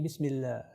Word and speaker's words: Bismillah: On ne le prononce pas d'une façon épaisse, on dit Bismillah.